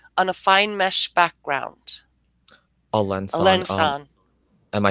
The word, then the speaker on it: Alençon: A lensan.